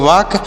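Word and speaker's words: walk: मतलब होता है टहलना इसे वालक नहीं पढ़ेंगे वाक पढ़ा जाएगा यहां पर ल साइलेंट है एफ आई एन ई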